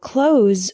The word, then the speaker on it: close: The word close with a Z sound is a verb.